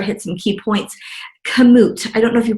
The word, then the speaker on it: Komoot: Komoot. I don't know if you pronounce it that way, but it's K-O-M-O-O-T.